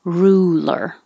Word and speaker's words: ruler: if it helps to take a little break take some time to move from the first r to the l back to the r ruler that's it it was